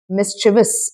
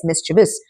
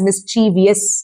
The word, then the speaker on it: mischievous: Mischievous. One thing to remember is there are only three syllables in this word. You don't say it as mischievous.